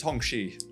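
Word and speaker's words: Hongqi: So, I think it's pronounced Hong Xi.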